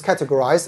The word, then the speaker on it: categorized: understand that this is categorized it's categorized so get a stress is on Cat the first syllable okay look at e